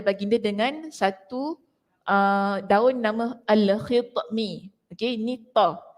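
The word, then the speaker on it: الخطمي: dengan satu daun nama al-khitmi. Okey, ni ta. Ejaannya itu bahasa Melayu tu takut salah bacaannya. Al-khitmi, ta. Alif, lam, kha, ta, mim.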